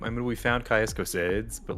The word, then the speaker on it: Cosades: I've always said it Caius Cosades, but if you want to be Casadis, you can do that.